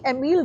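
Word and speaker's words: Émile: ideology differently right anyway so similarly you see emile durkheim many people say durkheim oh that's such an indianized pronunciation it's pronounced as durkheim okay just remember emil the kind so emil many people say emily durkheim don't do that at least if we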